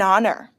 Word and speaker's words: honor: Look at these examples and pay attention to the pronunciation. An hour, an honor, but a hotel, a house.